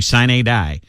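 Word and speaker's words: sine die: we're about to do sign a die and i think i'm pronouncing that right it's s i n e and then capital d i e it's latin it's means means the end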